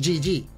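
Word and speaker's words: GG: pasan a llamarse Jeje pero como estos en inglés pronunciaremos Gigi menuda oportunidad perdida además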